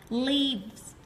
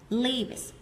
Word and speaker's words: leaves: Mọi người đọc cái âm y nó kéo dài ra một chút thì chúng ta sẽ phân biệt được với từ live là sống ở đâu đó. Leaves. Leaves.